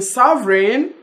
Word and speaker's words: sovereign: in foreign G is silent in sovereign sovereign Lord G is silent in